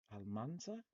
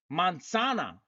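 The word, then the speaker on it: manzana: Almanza. No, I forgot. I'm slacking. Okay. I speak Spanish like Theo Vic speaks English in ducks. Mansana. There it is. That's how you say it.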